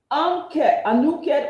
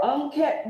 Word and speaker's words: Anuket: Anuket or Unket, there are different ways to pronounce her name.